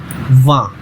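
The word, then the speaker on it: vingt: Then 20 sound like वा। ठीक है, इसे आप बहुत अच्छे से प्रोनाउंस करना है। बहुत लोग इसे वेंट पढ़ते हैं but that's a wrong pronunciation, it's वा।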